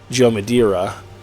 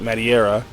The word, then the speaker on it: Madureira: I think Joe Mad, his actual pronunciation from what I heard once was Joe Madureira. But the way it's spelled, I never heard it until that one time, so I always pronounced it Madureira.